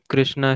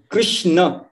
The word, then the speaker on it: कृष्ण: तो इसलिए कृष्ण, कृष्णा नहीं, कृष्ण। हरे कृष्ण कृष्ण कृष्ण हरे हरे, हरे राम राम राम हरे हरे, ये प्रोनाउंसिएशन होना चाहिए।